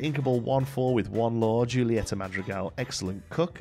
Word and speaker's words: Julieta: 14 with one LW Julieta madreal excellent cook juletta sorry I think it is that's like a h sound I'm not uh you